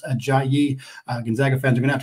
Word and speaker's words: Ajayi: it is not that is how it is pronounced a jayi Gonzaga fans are gonna have to get used